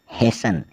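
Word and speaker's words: hasten: alphabet की ओर कि ऐसे वर्ड्स जिसमें टी साइलेंट रहने वाला है एच ए एस टी ई एन हेसन हसन मतलब शीघ्र फिर है एस एन ए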